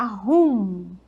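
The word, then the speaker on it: whom: Um pouquinho difícil de falar essa palavra, porque ela fecha, né? Esse M fecha no final, fica rum.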